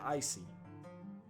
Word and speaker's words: Isai: I'm Isai, he says, pronouncing it icy.